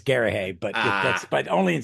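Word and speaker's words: Garrahy: Lucas, inker Richard Case, letterer Bill Oakley, and colorist Pat Gary is how I'm pronouncing that. Garahay. I think it's Garahay, that's Ah, but only in Scotland in America.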